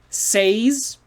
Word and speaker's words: says: have s a y if you just have s a y it's say what did you say but if you have an s on there it changes the sound and maybe you didn't